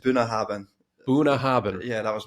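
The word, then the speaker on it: Bunnahabhain: i Ain even get it's it's pronounced buah habin buah habin yeah that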